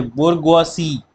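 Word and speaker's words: bourgeoisie: ये बोरगवासी ऐसे ही प्रोनाउंस करते हैं।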